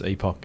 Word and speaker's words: epoch: So it's the Canadians and the Americans, it's Epic, but for us it's Epoch.